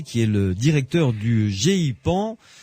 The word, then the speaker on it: GEIPAN: est le directeur du gipan pas facile à prononcer g e I p a n peut dire gpan tout simplement GP voilà d'accord qui